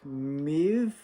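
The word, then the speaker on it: Möwe: The pronunciation is kind of like Maeve.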